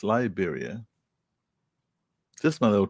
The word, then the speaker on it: Liberia: All right, it's Liberia.